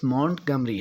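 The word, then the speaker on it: Montgomery: میں اضافہ ہوگا کہ اس لفظ کا درست تلفظ مونٹ گمری ہے.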